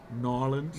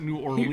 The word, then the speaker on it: New Orleans: there you need to say it correctly nins nins not New Orleans he wants he wants